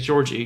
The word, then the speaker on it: George: it because of Georgie that's how George is pronounced in Japanese it's fun to say it is Georgie that's true Georgie it's